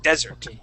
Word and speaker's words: desert: and ice cream right so we want to make sure that accent is at the beginning desert okay okay all right